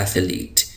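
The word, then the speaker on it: athlete: आवाज है इसकी आवाज उर्दू में हम कहते हैं कि था की आवाज है एथ एथलीट लेकिन ऐसा नहीं है बल्कि जो अंग्रेज है वो जिनकी जबान है वो इसको ना था पढ़ते हैं ना सा पढ़ते हैं जो हमारा जो अलिफ बाता सा जो चौथा हर्फ है अलिफ बा ता टा और सा तो चौथा हर्फ है ये थे और से के दरमियान एक आवाज होती है एथलीट तो ये एथलीट है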